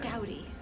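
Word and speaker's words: Doughty: this is marquee diamonds by Kathy Dodie I think it's how you pronounce her name she's Australian I'm pretty sure Dowdy Dowdy okay and this is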